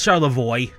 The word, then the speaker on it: Charlevoix: I've heard it try to pronounce Charlevoix. It's Charlevoix. Because we've Englishized the French.